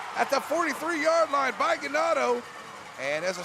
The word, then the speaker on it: Ganado: Ganado Indians rhymes with tornado.